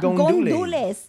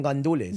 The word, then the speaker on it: gandules: Because it's not gondules. Gondules. You're saying it wrong. I know it's ajo con gandules.